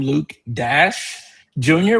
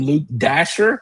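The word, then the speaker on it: Dashjr: Some people call him Luke Dash Jr., which that is his name. I've heard some people call him Luke Dasher, and then I've heard some people call him Luke Dasher Jr.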